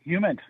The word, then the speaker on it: HUMINT: Humint.